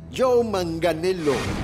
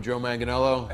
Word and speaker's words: Joe Manganiello: Joe Manganiello. Hi, I'm Joe Manganiello. I'm Joe Manganiello. I'm Joe Manganiello. I'm Joe Manganiello.